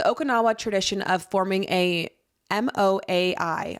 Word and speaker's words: moai: The Okinawa tradition of forming a MOAI, I'm not sure how to pronounce that. Moya. Yeah, thank you.